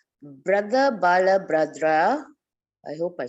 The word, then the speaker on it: Balabhadra: Brother Balabhadra, I hope I said it right. Brother Balabhadra, yes.